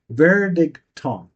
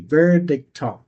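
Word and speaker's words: Verdichtung: um the official word for condensation I might mispronounce it but basically it's vericon v e r d i c h t u n g vericon now my might be killing it that's the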